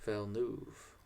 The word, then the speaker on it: Villeneuve: Dude, I don't know how to pronounce his name. It's Villeneuve. Villeneuve.